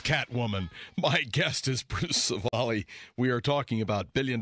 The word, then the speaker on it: Scivally: Okay, and that's pronounced Scivally.